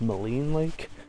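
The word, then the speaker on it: Maligne Lake: all I would like to apologize apparently it's pronounced Moline Lake and with that being said we've made it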